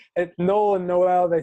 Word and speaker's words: Noel: It's probably because I am somewhere energetically, I knew it's Noel, which to me is the song Noel, and yet Noel, I don't know where that's coming from, except that's just anyhow. Spelled the same as Joel, and a lot of times people see that. You're right. That's probably where it came from, is Joel.